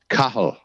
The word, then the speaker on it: Cathal: ever talked you named Cathal so oh yeah and by the and so you don't you don't pronounce the T yeah and it's Gaelic for Charles and it is pronounced kaho ah yeah so don't